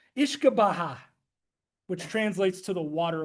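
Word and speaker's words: uisce beatha: It's hard to pronounce. Ishkabaha, which translates to the water of life.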